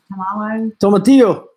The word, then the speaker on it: tomatillo: Tomatillo. Tomatillo.